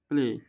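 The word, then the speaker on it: play: নাম অনুসারে উচ্চারণ হয়, তাহলে এটার নাম এ, তাহলে এবার নাম অনুসারে উচ্চারণ করবো, পি এল এ প্লে এ উচ্চারণ আসছে, দেখো পি এল এ প্লে, কেউ কেউ প্লাই প্লাই বলে এসব ঠিক না।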